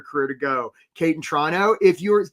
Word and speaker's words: Toronto: to go, Kate in Toronto, if you're Did you notice how I didn't pronounce the second T? Kate, if you're struggling with ways to describe what you do, Wendy, also in Toronto, again, no second T Karen in New Jersey.